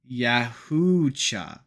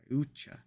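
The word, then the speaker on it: Yautja: um Predator Thea why pronounced yaha y yaha y a u t J A why yucha that's seems unnecessarily difficult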